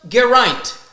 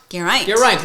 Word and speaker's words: Geraint: First of all, it is pronounced Geraint. Geraint, like pint. Okay, Geraint. Like bear and pint is how he described it to us more than a year ago.